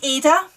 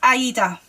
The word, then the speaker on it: Aida: Now, I say Ada. I've heard it being pronounced Aida. Either way works, but I'm just going to call it Ada because that's what I've been calling it for decades.